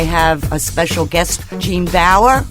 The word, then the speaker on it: Baur: And I'm so excited today because I have a special guest, Jean Baur, rhymes with flower.